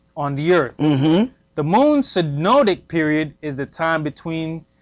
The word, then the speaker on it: synodic: Measuring the motion of the moon around the earth relative to the sun leads us to what is called the synodic, pronounced synodic period.